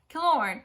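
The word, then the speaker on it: Kilorn: the audiobook was that kill art is actually pronounced killer so thank you for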